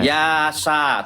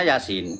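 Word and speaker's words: يس: Yasa tulisannya yasa tapi bacanya Yasin. Yasin gitu kan.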